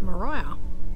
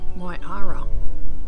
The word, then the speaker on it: Miara: the ocean so we've arrived at Mariah nope marara nope how do you say it again my Ara we are arrived at myara it's us parked there